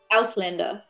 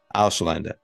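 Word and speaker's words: Ausländer: Could you pronounce it so that we get the German right here, please? Auslander. Auslander.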